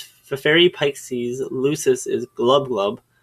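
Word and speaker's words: Gl'bgolyb: Pik sees lucus is Glo glub that's how that's pronounced by the way a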